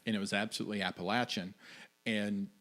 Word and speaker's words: Appalachian: for saying Appalachian yeah like if you're from West Virginia don't sit no latch not lay so that the correct pronunciation there was a correct pronunciation and it was absolutely Appalachian and say it right